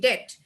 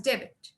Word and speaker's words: debt: b t uh as debit because we may not know uh we may not have the knowledge that b is silent here so uh there are